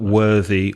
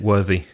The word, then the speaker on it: worthy: from the word worth and what what group is it worthy I'll say it once more worthy that's group 2 that's right vibration with vibration and you can hear it can't you worthy worthy yet the known worth was group 1 yep voiceless I checked